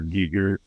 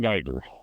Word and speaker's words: Giger: Giger inspired creatures. Ooh, Great. Ooh, is that the common pronunciation nowadays? It's Giger, not Geiger. Geiger is a Geiger counter. Giger is his name.